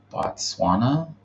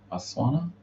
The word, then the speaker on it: Botswana: Um, I think I saw like I don't know how to say this, but I think it was Batswana. Botswana sounds right.